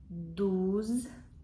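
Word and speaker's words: douze: 11 онз онз 12 дуз о і читається як у дуз 13 трез е і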